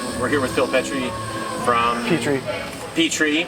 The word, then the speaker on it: Petrie: We're here with Phil Petrie from Petrie. Petrie. Like I said, how do you say it? Petrie. That's how you say it.